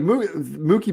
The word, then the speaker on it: Mookie: No, he's saying Mookie now, but he was for a very long time saying Mucky Betts. Mucky Betts. I mean, we should have just kept him saying that and never told him that he was saying it wrong because that's way funnier.